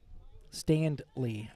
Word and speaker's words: Standley: Standley. I got to pronounce the D in that, Lauren.